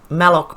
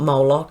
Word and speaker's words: Malloch: lord mark malloch brown it's malloc it's not moloch it's malloc brown the former president of smartmatic to lead opens it sounds like and i often pronounce it as molok that's just i think it's the australian way of speaking australian accent it's malloc not moloch that's probably just the